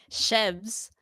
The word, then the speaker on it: Shebs: I've spelt my own name wrong. His name is That's not Sheb, y'all. It's yeah, Yeah. Shebs.